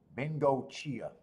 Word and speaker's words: Bingo Chia: GNA go come again Bingo Chia Bingo Chia so say it exactly like it uh looks like almost that's perfect let see